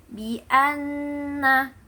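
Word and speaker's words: بِأَنَّ: Bi anna. Nah, di situ nun syaddah. Jadi itu gunnah musyaddadah, yaitu yang ada dua huruf yaitu mim syaddah dan nun syaddah.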